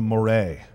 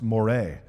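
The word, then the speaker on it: moiré: but it's actually pronounced Moray in fact if I had uh really been awesome I would have put a little accent mark above the e in that word so that you would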